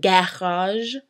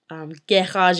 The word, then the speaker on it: garage: Garage is a good word to practice this because if a G is followed by an A or an E, it's a soft sound, such as in the second half of garage, like it's garage, just zh, it kind of blends in there. S also is kind of situational.